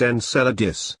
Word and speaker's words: Enceladus: energy are available for organisms to exploit Enceladus pronounced Enceladus provides all three it's looking more and more